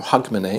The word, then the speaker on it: Hogmanay: which we know is Hogmanay or Hogmanay it's pronounced in Scotland and here in Germany